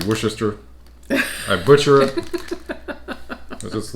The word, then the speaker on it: Worcestershire: just short whisker all Americans butcher wore Chester Shire yeah try to pronounce every little thing and I think Worcester I think is the closest I can come to how it's supposed to be pronounced it may still not be 100 correct but that's as close as I'm getting it yeah no matter